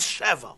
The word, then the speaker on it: Sheva: They're spelled the same, Shin Vei Zayin, but they're pronounced differently. It's a different vowel. This is Shava and this is Sheva.